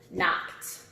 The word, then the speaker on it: knocked: Knocked. Knocked, knocked, knocked. It's another one in the T category.